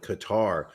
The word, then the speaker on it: Qatar: In all honesty, I believe the name is Qatar, though I think most Americans do call it Qatar. They put the emphasis on the second syllable, though I believe the proper pronunciation has it on the first.